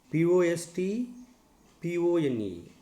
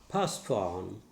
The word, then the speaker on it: postpone: Last example for disyllabic words, POST, PONE, postpone. It is not postpone. T is silent. Postpone.